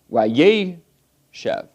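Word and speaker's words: וַיֵּשֶׁב: Here, because of the wow conversive, the accent goes to the preformative, wayeshev.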